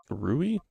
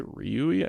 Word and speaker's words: Rui: Rui. Did I say Ryui? I feel like I put an extra syllable or something.